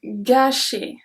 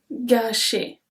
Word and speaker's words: gâcher: Next one, gâcher. Gâcher. Because of the accent circumflex, we pronounce it longer.